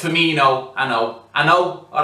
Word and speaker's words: Firmino: to attack we had Cino fho oh it's firmino I know I know